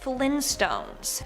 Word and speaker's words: Flintstones: No, apparently it's the Flint Stones with the hard T.